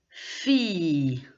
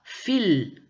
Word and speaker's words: filles: elle par exemple lumière attention parfois on ne prononce pas le hell ou double elle par exemple filles on ne dit pas fils non on dit firent donc on ne prononce pas vraiment le elle fils on ne prononce